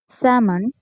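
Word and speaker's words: salmon: তো বেশিরভাগ শব্দেই এল এর উচ্চারণ হয় না যদি এল এর পরে কে থাকে, এম থাকে এবং এফ থাকে।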